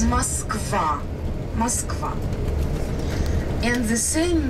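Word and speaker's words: Москва: front of us on our left there is Mosa River Moscow River the main river of our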